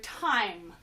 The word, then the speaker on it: time: And finally, we have the sight word time. Time. Spell time with me. T-I-M-E, time. Time has a silent E in it. It's making that I say I.